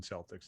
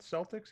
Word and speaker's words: Celtics: would be the celtics so it's spelt celtics even though it should be celtics and their mascot is